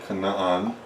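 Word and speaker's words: Canaan: right or actually let's let's add the other Canan because that's actually how it's pronounced um so this would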